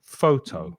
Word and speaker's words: photo: And photo, we stress the first syllable, photo.